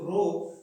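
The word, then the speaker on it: rho: इसे बोलते हैं रो, ठीक है ना, आर ओ, रो ऐसे प्रोनाउंसिएट कर सकते हैं आप इसे, रो से रो।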